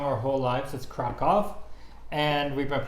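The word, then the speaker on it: Kraków: a wonderful City it it is we've been pronouncing Krakow wrong our whole lives let's crack off and we've been pronouncing Warsaw I mean the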